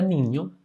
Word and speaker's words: niño: Cuando era niño, ño, cuando era niño, aquí pronunciamos como ño, ño, ño.